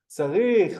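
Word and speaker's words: צריך: Tzarich, well done. Well done, Max. Tzarich, tzarich. We can hear the ending consonant sound.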